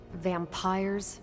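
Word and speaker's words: vampyres: said they were vampires vampires with a Y pronounced exactly the same as vampires I suppose that was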